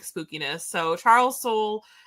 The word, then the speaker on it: Soule: So Charles Soule, I always say his name wrong because that E always throws me off. Charles Soule and Cavan Scott are